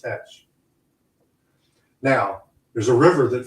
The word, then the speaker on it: Teach: T-E-A-T-C-H in 1718 was not pronounced Thatch. It was pronounced Tetch.